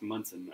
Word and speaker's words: Monson: So they're in Monsoon. Squeeze it. Is it Monsoon or Monson? Monsoon? It's pronounced Munson. Munson.